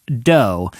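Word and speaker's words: Dō: of course, and it's spelled D-O with a little line over the O. Evidently, that means it's pronounced dough, and this is just a raw cookie dough restaurant.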